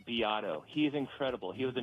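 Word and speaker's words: Beato: beat b e a t o but it's pronounced Bato he's incredible he was a music producer um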